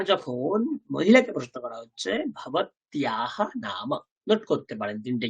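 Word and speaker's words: भवत्याः: দেখুন কি লেখা আছে, ভবত্যাহা, তৈজফলা আকার, উচ্চারণটা কি হয় ভবত্যাহা। ওই দেখুন আকারের পাশে বিসর্গ থাকলে উচ্চারণ শিখেছিলাম, লতাহা, গীতাহা, ধীতাহা, সীতাহা। সিমিলারলি ভবত্যাহা, ভবত্যাহা, ভবত্যাহা, ভবত্যাহা নাম কিম, আপনার নাম কি।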